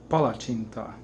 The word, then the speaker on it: palacsinta: calm are gonna make Hungarian Paula tinta look it up that's how you say it you have to have